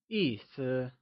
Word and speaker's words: 意思: 意思 is a two-syllable word where 意 is pronounced using a falling tone and 思 is pronounced using a neutral, soft fading tone. The word meaning translates to 意思. Can you try and say 意思?